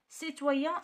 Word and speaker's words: citoyen: citoyen هنا كتقرا س.